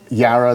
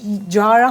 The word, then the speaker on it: Jarrah: manuka and I have a new honey called Yara the the the Australian pronounce being ticked off funny Australian how to pronounce in fact I've I without knowing that you pronounce it yeah I was promising it's Jarrah honey from Australia yeah okay so no generally